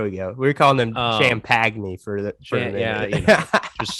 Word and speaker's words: Champagnie: name here julian champagne champagne okay so like shams but then penny yes there we go there we go we're calling them champagne for the show yeah